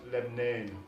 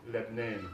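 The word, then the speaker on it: لبنان: And in Arabic, it's pronounced Lebnan, Lebnan mostly.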